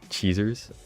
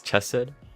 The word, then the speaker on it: Chesed: Cheesers, Chesed, Hesed, it's Chesed. Thank you, Decagrammaton. I'm gonna trust Decagrammaton with the pronunciations, because it's literally Decagrammaton. You just say chest, like Minecraft chest.